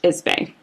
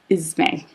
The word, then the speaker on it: Ismay: Ismay. He would become very important. He and his son would become very important into the story, just so you know. What's his name again? T.H. Ismay.